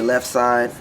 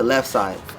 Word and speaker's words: Leffside: to left side and i spell it l-e-f-f-s-i-d-e because i'm like don't say left side when say left they say left side and it all sounds like one so i just went